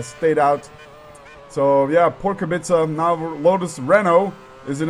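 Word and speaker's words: Kubica: I had another comment I keep pronouncing kubit wrong it's not kubika but kabit and I guess to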